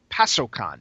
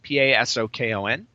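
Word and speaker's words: パソコン: the name gamecom gamecom in Japanese is actually pronounced pasokon p a s o KO n pasokon okay and it means personal computer oh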